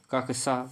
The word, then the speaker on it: कक्षा: 91 number प्रश्न है, कच्छा शब्द का शुद्ध उच्चारण बताइए। कच्छा शब्द का शुद्ध उच्चारण क्या होता है बताना है। तो इसका राइट आंसर होगा कक्षा, यानी 3 सही होगा।